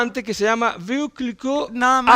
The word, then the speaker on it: Veuve Clicquot: Es un Veuve Clicquot. Veuve Clicquot. Veuve Clicquot. Veuve Clicquot. Veuve Clicquot. Exactamente, Veuve así se Clicquot, pronuncia.